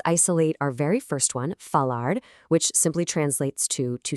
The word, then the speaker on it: falar: Let's isolate our very first one, falar, which simply translates to to speak. The standard formal pronunciation here is falar.